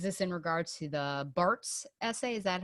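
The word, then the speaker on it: Barthes: And you said, is this in regards to the Bart's essay? Is that how you pronounce his name? Barth.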